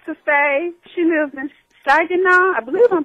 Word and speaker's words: Saginaw: She lives in Saginaw. I believe I'm pronouncing it right. Yep, Saginaw.